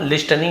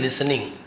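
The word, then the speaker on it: listening: पिट्टू वॉज लिसनिंग to their talk, तो जो पिट्टू था वॉज लिसनिंग, सुन रहा था, यहाँ पर भी टी साइन, लिसनिंग नहीं, लिस्टनिंग नहीं बोलेंगे, लिसनिंग, पास्ट कंटिन्यूअस टेंस, सुन रहा था, टू देयर टॉक, उनकी बातों को सुन रहा था।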